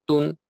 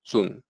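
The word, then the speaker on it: 屯: tiene dos significados y se pronuncia de dos maneras distintas en la mayoría de los casos se pronuncia Tun que significa reunir juntar y llenar con abundancia en la antigua China un almacén se llamaba atún y el lichin y solo en el lichin este carácter tiene el significado de comienzo en este caso se pronuncia zoom el Antiguo pictograma de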